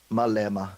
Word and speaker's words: Malema: Julius Malema is served Malema is that the right pronunciation Mille Emma yeah Mille Emma he he has been